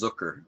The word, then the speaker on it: Zucker: My last name's pronounced Zucker, like Zucker. hooker. Oh, okay.